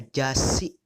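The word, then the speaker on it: 雑誌: Kemudian ada jasi, artinya majalah. Ingat minasannya ini bukan, ini su kecil, jadi dibacanya double.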